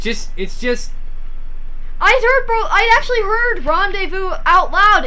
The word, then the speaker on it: rendezvous: It just never occurred to me that the word I was reading and the word I heard other people say were the same word. Because they're spelled so differently from how they're pronounced.